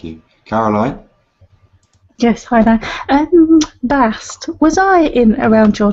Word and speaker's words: Bast: Please be sure to put the at the end. Bast. That is the feminine pronunciation.